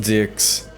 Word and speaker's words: DIX: It's pronounced dicks.